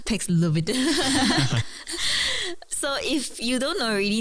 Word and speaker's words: Paxlovid: I guess it sounds like COVID at the end. So it's Paxlovid.